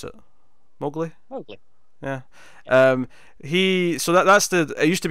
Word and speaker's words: Mowgli: How do you pronounce it? Mowgli.